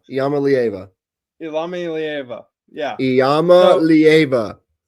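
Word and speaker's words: Iamaleava: It's uh Yama Leva. Yama leava.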